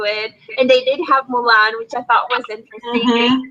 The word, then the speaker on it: Mulan: How do you say Milan? Mulan, have you did you guys get Once Upon a Time, the TV show over there?